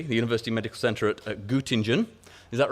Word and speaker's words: Göttingen: pronounce this correctly, the University Medical Center at Göttingen. Is that right? Any German speakers? Have I got that right? Göttingen.